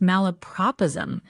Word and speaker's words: malapropism: It's pronounced malapropism.